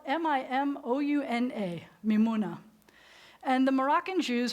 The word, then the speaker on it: Mimouna: called does anybody know I'm talking about so it's spelled mi mo UN a mimouna and the Moroccan Jews are known for